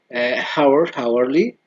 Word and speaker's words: hourly: History, historical, hourly, or the H is silent.